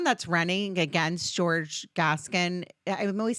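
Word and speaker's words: Gascón: his name wrong G it reminds me of Beauty and the Beast gason kind of like yeah gas yeah yeah yeah yeah that's how I always remember it um so he so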